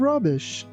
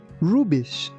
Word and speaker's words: rubbish: with all kinds of rubbish. Here, be careful not to say rubbish. It's rubbish. Rubbish. Also, be careful not to put too much stress on B. We don't say rubbish. We say rubbish.